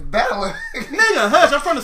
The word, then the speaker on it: Balor: It's Balor.